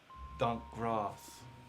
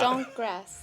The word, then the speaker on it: Donk Gross: Donk Gross. Did I say it right? Probably not. Donk grass, yeah. Donk Gross? Yeah. Donk Gross. It's pronounced DAWNK grass, so donk grass.